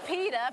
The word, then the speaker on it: PETA: you say KY P it's actually Peta people for the ethical treatment of animals uh